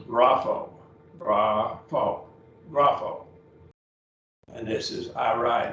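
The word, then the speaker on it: γράφω: Grapho up here. Two syllables, grapho.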